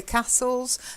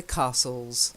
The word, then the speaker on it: castles: want to point out you say castles people also say castles okay I tend to say castles because castles are posh but castles is also correct okay and then the